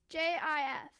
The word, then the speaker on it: GIF: JIF. Let me see. Let's see. It's on BBC News. The Oxford English Dictionary accepts both pronunciations. He said they are wrong. It's a soft G, pronounced GIF. End of story.